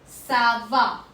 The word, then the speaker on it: ça va: आस्क हाउ आर यू in French कोमो कॉमो सावा सी with an accent of this this accent